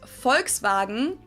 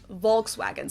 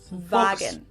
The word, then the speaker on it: Volkswagen: But even if we did go by the full name, it would be pronounced Volkswagen and not Volkswagen. So just imagine that it was spelled with an F and V instead. Volkswagen.